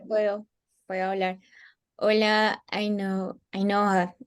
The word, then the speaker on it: Ainhoa: puedo hablar Hola a a Noa no sé muy bien cómo pronunciar tu nombre qué pena contigo no te preocupes a Noa a Noa perfecto Hola a Noa vale